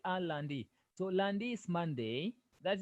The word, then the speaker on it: lundi: Landi. Remember this one, Landi. The E is not silent. Letter I is not silent. The only Oh, okay. so we say Landi.